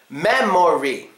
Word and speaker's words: memory: Memory. Memory. Do you know which syllable here gets schwa'd? Well, it's the syllable in the middle.